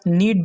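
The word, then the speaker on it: knead: इसके बाद का जो थर्ड वर्ड है हमारा वह है नीड the floor. नीड the floor का मतलब होता है आटा गूंदना। आटा गूंदने को इंग्लिश में नीड द फ्लोर कहती है। यहाँ के साइलेंट है।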